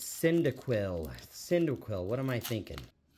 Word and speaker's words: Cyndaquil: My gosh, I can't even pronounce it. And non-holo. It's Cyndaquil.